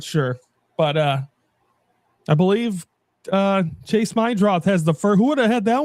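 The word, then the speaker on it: Meidroth: It's not Meredith. It's Chase Mydroth.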